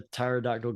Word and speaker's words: pterodactyl: But why can't you hear a pterodactyl go to the bathroom? Because the P is silent.